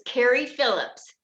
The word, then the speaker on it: Cary Phillips: It's Cary Phillips, C-A-R-Y, Phillips, like a screwdriver.